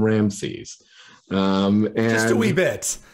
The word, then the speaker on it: Ramesses: But by the time you can really work out what the original pronunciation was, and so the pronunciation of Ramses was originally Ri-a-ma-se-su. So very different from Ramses.